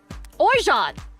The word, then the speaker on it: Orgeat: Pronunciation. Orgeat!